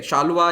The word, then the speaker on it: Saluva: तो इंग्लिश में इसको लिखते SALUVA है, तो इसको शालुवा प्रोनाउंस करते हैं, एक्चुअल प्रोनाउंसिएशन शाल्व डायनेस्टी है, ओके। लेकिन तेलुगु में प्रोनाउंस होता है तो शालुवा डायनेस्टी भी हो जाता है कई बार।